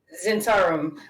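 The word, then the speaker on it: Zhentarim: How do you pronounce The it? Zentarum? Zentarum.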